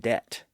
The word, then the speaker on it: debt: hasn't really changed, but we do have a few silent B's in words like doubt and debt.